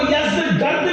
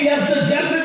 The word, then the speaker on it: یزدجرد: اس کا بیٹا تھا جس کا نام تھا یزدجرد. اس کو یزدگرد بھی کہتے ہیں ایرانی لب و لہجے میں. عربی میں یزدجرد کہتے ہیں.